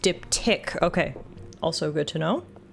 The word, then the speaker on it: diptych: um be right back it's pronounced dip tick okay also good to